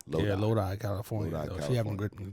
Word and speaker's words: Lodi: I didn't know how to pronounce that. You said it was Lodi? Lodi. Yeah, Lodi, California.